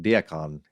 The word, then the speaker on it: Diakon: That's the pronunciation, Diakon.